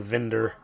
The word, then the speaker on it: Windir: I would also recommend listening to Vinder, which is spelled Winder, Windir.